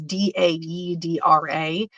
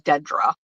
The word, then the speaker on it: Daedra: Her name is Daedra. It's Daedra. Like nobody ever pronounces it right, so I try to be very conscientious about pronunciation. Because I got to tell you, for a really long time, she was Dedra. That is how people would pronounce it.